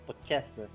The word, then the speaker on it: Pochesny: So if it's easier, you can pronounce be like Pochesny. Pochesny.